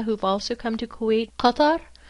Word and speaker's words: Qatar: Qatar, or in American pronunciation Qatar, is another oil-rich country.